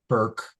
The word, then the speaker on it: Bourke: But between now and then, to get more, her website is her name, Hannah Burke, although it's spelled Bourke.